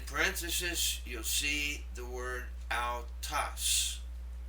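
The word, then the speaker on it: αὐτός: This makes the ow sound as in the proper name Faust, owl. And in parenthesis you'll see the word autas. Autas.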